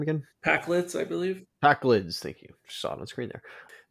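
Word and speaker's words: Pakleds: Packlids.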